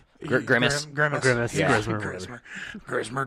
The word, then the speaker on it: Grimace: Really, I didn't like Grismer. Grimace. Grimace. Grimace, Yeah. Grismer. Grismer tires. I'm known for mispronouncing or just completely getting names, No, that's names cool.